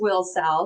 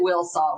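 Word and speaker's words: Wilsall: So, and just for the record, everyone should know it's pronounced Wilsowl according to the locals. Named after Willie and William and Sally is what I've been told. So, everyone says it Willsaw, which we were saying it wrong.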